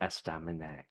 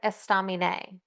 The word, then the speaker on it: estaminet: is esta yeah I always want to say esta and it's I don't know apparently that's more Spanish accent but it's French I mean I don't know French so I I'm maybe this isn't how you say it but just based on the phonetics when I looked it up I feel like I'm pretty good at that but um it's estamina estamina EST no me no